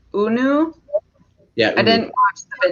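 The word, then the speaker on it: Hunou: The H isn't pronounced, isn't it? Like Unu?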